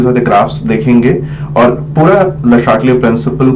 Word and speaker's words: Le Chatelier: उसको हम बोलते हैं, बहुत लोग बहुत तरीके से प्रोनाउंस करते हैं, बहुत लोग ली चाटलिया बोलते हैं, but the right pronunciation is Le Chatelier principle and we are trying to study the Le Chatelier principle through graphs.